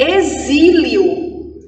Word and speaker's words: exílio: Em exílio, eu tenho o som do zi, mas não foi escrito com Z, foi escrito com X.